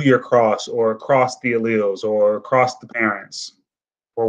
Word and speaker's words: allele: Ally or Ali, I don't know how to pronounce it. Yes, correct. Thank you, Castro. It should be allele. It's a hard word to say, allele.